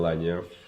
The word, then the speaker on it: Lagnaux: Lagnon, as you correctly pronounced it.